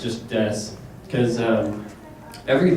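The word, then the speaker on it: です: And if you know a little bit about Japanese, then you may be wondering why des is pronounced just des.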